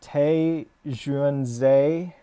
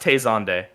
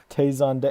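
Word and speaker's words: Te Xuan Ze: butchering that pronunciation uh it's pronounced tazonde taizonde oh of course chocolate ring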